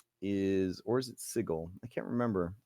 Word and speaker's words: Sigil: I think they deliberately pronounce it wrong for the city. They do deliberately pronounce it wrong. Yeah, because that's what messed poor Matt Mercer up so much. It's sigil.